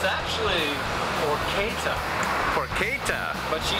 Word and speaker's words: porchetta: winning yes you are but first things first pronunciation it's actually pora pora but she says uh she just says poretta there we go on colorful Hastings Street one